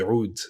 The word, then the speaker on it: oud: is the Impact Soundworks Oud, or the Oud, if you want to say it properly. Sorry, not properly. Say it in its native language, which is Arabic.